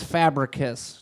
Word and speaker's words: Fabricius: is a show about how to pronounce my last name correctly which is fabric kiss no matter how it looks like it should be pronounced now are we gonna